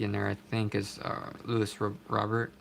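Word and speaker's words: Luis Robert: there I think is Louis Robert or lose robear how we pronounce his name there Jordan there's all-star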